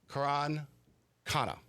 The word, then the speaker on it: Karan Khanna: Please welcome to the real estate excellence podcast the product lead for listed kit AI Kuran Kana to the show. Did I pronounce the last one?